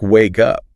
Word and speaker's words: wake up: And the source material points out that wake up also links. The K sound at the end of wake jumps over and connects to the up. So it sounds like wake up.